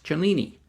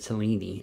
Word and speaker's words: Cellini: Today we're going to review the Pagani Design PD-1689 homage to a Rolex Cellini. I had mispronounced it in an earlier video and said Cellini instead of Cellini, so I am correcting myself.